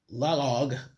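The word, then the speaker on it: Laoag: Not sure how I'm going to pronounce this but log log.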